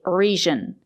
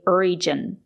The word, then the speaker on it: region: It's not correct to say region. We have to say region. We have to use the j sound, not the zh sound. Sometimes the letter g is pronounced with a zh sound, but not in this case. We have to say region with a j sound, like in juice and jump.